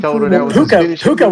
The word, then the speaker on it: Puka: How do you pronounce his first name? P U A puka.